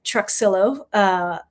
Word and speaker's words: Truxillo: My husband's from New Orleans, and they pronounce the X, so Truxillo.